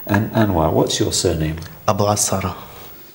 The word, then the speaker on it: Abu Asara: Abu Asara. How do you spell it?